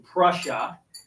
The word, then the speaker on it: Prussia: steuben he comes from prussia and i know that rhymes with what you would say is russia that's not what prussia